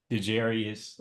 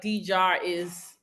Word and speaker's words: D'Jaris: of interviewing or DeJarius. Did I pronounce that right? No. DeJarius. Okay, correct, because we can do that over. So Okay, it's D-Jar. It's like just think about like D-Jar is open.